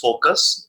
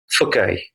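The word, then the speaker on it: foci: कुछ लोग इसको फोकी, फोसी, but that's called the फकाई. फकाई. Just once again I am going to repeat it, that is फकाई.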